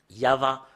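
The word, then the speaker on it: יהוה: Yava. Rien d'autre que ça. Et Yav, ça parle pas, mais c'est Yava qui parle.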